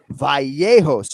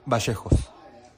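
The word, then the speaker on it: Vallejos: Kevin Bashos. Kevin Bashos. Kenny, can you say that? Right. It sounds like sometimes you'll hear the V sound like a B and then the Y in certain uh regions will be.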